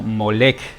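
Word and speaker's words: Molech: las lenguas semitas antiguas, la palabra traducida como Moloc, pero leída como Molec en el texto masorético, se escribe con las consonantes mem, lamed y kaf sofit.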